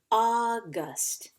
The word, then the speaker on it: August: it's supposed to say it has our a you sound which says ah I hope you said and this is August August August alright our